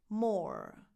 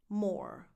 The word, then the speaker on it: Moore: Moore. This last name is pronounced just like the word more with one O. Moore.